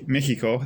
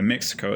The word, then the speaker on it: Mexico: It's gonna be like when the Spanish conquistadors showed up in Mexico, Mexico, that's how you pronounce it in Latin America. Mexico, it's how we pronounce it in English speaking countries in the early 1500s,